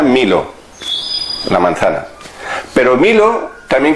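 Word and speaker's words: μήλο: Se pronuncia milo, la manzana.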